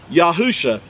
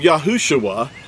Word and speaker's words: Yahusha: letter Yad and then husha became yahusha do you see that yahusha he didn't become yahushua there was no uh